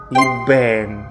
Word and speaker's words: Ebeng: Dia bilang orang tersebut namanya Nori Fietria atau biasa dipanggil dengan Ibeng. Tulisannya Ebeng tapi bacanya katanya Ibeng, dan dia adalah seorang wanita bukan laki-laki.